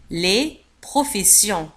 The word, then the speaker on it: professions: les professions الجمع. les professions تكتب avec deux S S تقرأ سيون.